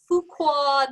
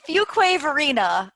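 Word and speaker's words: Fuquay-Varina: the plant lady Arthur all the way from Fuqua North Carolina did I say it right it's Fuquay Varina well I think they're gonna change it to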